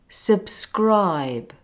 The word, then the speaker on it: subscribe: end of the word it is softer like in the word subscribe can you tell the difference between the first B and the last B subscribe subscribe the last B is much softer it almost sounds like a sound a sound so instead of saying subscribe we say subscribe you can hardly hear the ending oh by the way